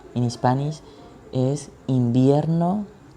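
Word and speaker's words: invierno: season for season each winter or winter the pronunciation in spanish is in vienno it's summer es verano es verano es verano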